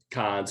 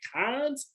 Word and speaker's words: Cannes: Riley Keough, also has a film that's going to be premiering at Cannes called Beast, which is set on the Pine Ridge Indian Reservation.